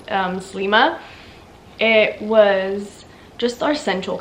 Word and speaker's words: Sliema: And yeah, we stayed in, it's spelled out Sliema, but I'm pretty sure if I remember correctly it's called Slima.